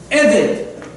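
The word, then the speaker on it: עבד: This Avdim, if you look at it in the Hebrew, it is spelled Ayin Bet Dalet. Eved.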